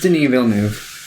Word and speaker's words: Denis Villeneuve: It's pronounced Denis Villeneuve. Okay. No. You want me to go get Hinatea? No. She speaks like... It's Denis Villeneuve, or something close to that.